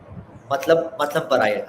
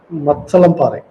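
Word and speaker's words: Mathalamparai: So, if I pronounce it right, and please correct me, you live in Matlam Parai. How this is how we call Ma- it? Matsalampare.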